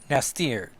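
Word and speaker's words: N'astirh: Honestly, it's because it's in apostrophe ASTIRH, but I'm pretty sure the H is silent. So it's Nastir.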